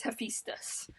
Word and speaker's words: Hephaestus: Okay, I asked my best friend Siri, and Siri says it's Hephaestus.